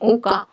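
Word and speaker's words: okka: Introduction में मैंने आपको बताया कि बुक्स का मेन सोशल यूनिट है ओका। मतलब ओ डबल के ए करके प्रोनाउंसिएशन देख लीजिएगा।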